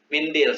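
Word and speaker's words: منديل: Walakin fil mindil, tetapi di Mindil, sapu tangan. Rupanya mindil bacanya, bukan mandil ya. Biasanya mandil.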